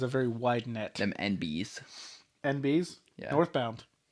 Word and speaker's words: enby: Them NBs. NBs? Yeah. Northbound. It's usually spelled ENBY. So, like, you're supposed to, like, phonetically say NB.